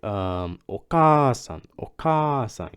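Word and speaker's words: お母さん: Okay, it's like okasan. You gotta make the first vowel longer.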